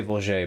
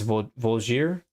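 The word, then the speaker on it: Voulgier: how to pronounce that I used to say blue jay but somebody said that's not not right so I think it's volzier anyways they're really good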